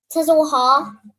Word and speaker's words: Tazawaha: So taza is pronounced singularly, right? Singular. Then the wa and the ha, are they singular or are they joined? They join together. They're joined together. Well done. Okay, so how would we pronounce this phrase? Tazawaha. So those are the three letters, but the wa and the ha would be joined together.